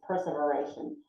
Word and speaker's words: perseveration: that word perseveration perseveration normally it's persevere but it's perseveration and that is a